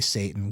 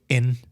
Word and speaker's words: Satan: When we say Satan, we drop the medial T. We just do a glottle stop in the middle. Yeah. We don't pronounce the T in Satan. We just say Satin.